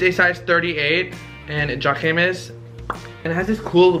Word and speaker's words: Jacquemus: Jacquemus, I don't know how to say it, I don't remember. Jacquemus, I just sounded like I said hummus.